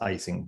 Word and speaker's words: Ising: Ising was a German or German, I think, mathematician. So in the United States, it's pronounced Ising, but it should be pronounced Ising.